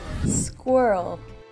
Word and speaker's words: squirrel: 얘는 몇 음절이에요? 2음절이죠. 모음 2개 보이시죠? 그쵸? 그러면 2음절처럼 하시면 되고요.